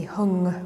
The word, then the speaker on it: Hum: The Buddhists sometimes pronounce this as Padme, and Hum can be hung with an ng at the end, but it's the same mantra, Om Mani Padme Hum.